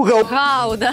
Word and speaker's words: Гауда: Друзі, хтось брав сир Гауду. Гауда.